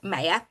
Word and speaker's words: Maya: I'm Maya, and it is pronounced Maya.